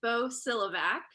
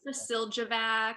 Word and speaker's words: Bosiljevac: It is pronounced Bosiljevac. The J is silent.